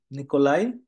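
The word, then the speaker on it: Nikolai: noodles অথবা soup খাই নিকোলাই যেটা কিন্তু আই উচ্চারণ হবে নিকোলাই ইস্ট ইন আরবাইট নিকোলাই কাজের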